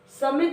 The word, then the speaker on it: सुमी: हम छोटा ओ की मात्रा को क्या करेंगे, जल्दी से प्रोनाउंस करेंगे, जल्दी से बोल देंगे। ओके, सुमी, सुमी, यानी इसमें बड़ी की मात्रा है तो हम थोड़ा सा टाइम देंगे, सुमी, नटखट सुमी।